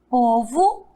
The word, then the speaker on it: povo: Pois é, em algumas palavras, o O também terá som de U. Mas observe aqui agora, olha só. Estão achando complicado? Vamos desvendar agora esse mistério. Leiam aqui comigo. Ouro, cachorro, povo e touro.